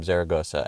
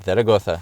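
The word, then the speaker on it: Zaragoza: pronounce it oh really we had we had some foreign exchange students from zaragosa and they said zagosa so that's why I'm going to pronounce it that way if you're from zagosa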